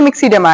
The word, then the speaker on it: myxoedema: देखिए मिक्सीडेमा, यहाँ स्पेलिंग है मिक्सोडेमा, ये देखिए MYXOEDEMA। ओके, मिक्सोडेमा।